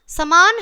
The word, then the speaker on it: सामान: घर में बहुत समान है, ठीक है, समान है, समान तो क्या है, ये अशुद्ध है।